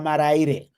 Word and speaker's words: Maraire: But if you really want to know, for those inquiring minds, it's Marita Maraire. That is the Maraire clan's name from the Shona language.